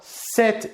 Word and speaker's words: cet: Par contre, on va utiliser le déterminant set écrit CET devant un nom commun